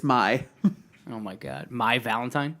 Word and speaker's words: Mai: star I'm pretty orange is it really you Ghia really again mispronouncing it it's my oh my god my Valentine mm-hmm whatever kid